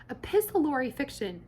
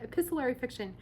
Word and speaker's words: epistolary: to do something called let's see if i say the name right epis let's see a pistol tori epistle epistlery fiction epistlery fiction i think that's how you say it epistolary fiction epistlery fiction is where